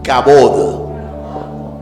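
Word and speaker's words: כבוד: hebreo cabot cabot cabot diga conmigo cabot termina en D cabot Cab eso es Gloria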